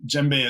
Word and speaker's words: djembe: to look at and djembe is spelled here with D J embe which is a pretty crazy way to say it but it's a really